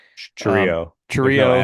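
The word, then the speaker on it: Chourio: big home runs that they hit with Jackson Chirino, I can't say his name. Churio.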